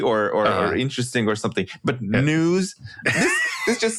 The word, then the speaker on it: N3W5: Oh, it's news.